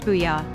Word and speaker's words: Bulla: These Spanish-style gastrobars have been slowly popping up around town, but the one folks won't stop chatting about is Bulla. Pronounced Booyah.